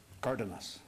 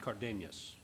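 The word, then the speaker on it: Cardenas: syllable was on the I thought the emphasis was on the syllable before the last syllable so as like a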